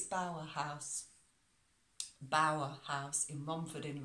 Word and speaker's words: Bower House: was speaking in person I got the name wrong uh it's Bauer house Bauer house in Romford